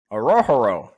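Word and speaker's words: Orhorhoro: Orohoro.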